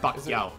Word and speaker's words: Pacquiao: How do you properly pronounce his name? Pacquiao.